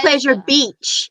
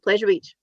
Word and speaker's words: Pleasure Beach: You go Pleasure Beach. You over enunciate the beach part, so it's like Pleasure Beach. Whereas we're all just like Pleasure Beach.